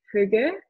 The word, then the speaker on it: hygge: Ça s'appelle, je ne vais pas bien le prononcer parce que je ne suis pas danoise, mais c'est hygge.